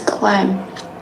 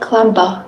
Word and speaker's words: climb: climb here this is climb all right so B is a singulator okay You don't pronounce it at clamber. Clamber. No. Right. It's not clamber. It's just clam. Clam. So b is silent letter.